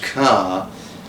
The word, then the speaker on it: Kerr: Written by the most distinguishable author, Judith Kerr. Although it's spelt Kerr, it's pronounced Kerr, who was German born but lived in England for a very, very long time of her life.